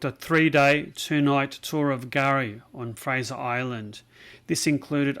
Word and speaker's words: K'gari: So that K apostrophe at the start, that is silent.